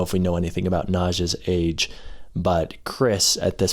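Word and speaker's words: Nazh: In the audiobooks, it's pronounced Naj.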